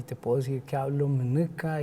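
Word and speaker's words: Munuka: Yo te puedo decir que hablo alemán y me siento muy orgulloso, y te puedo decir que hablo Mneca y me siento muy, muy feliz. Mneca se escribe...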